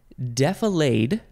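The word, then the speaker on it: defilade: with the flow next defolade or defalad d-e-f-i-l-a-d-e defolade that's how it's spelled but yes I can see how somebody would want to pronounce it definade this is a transitive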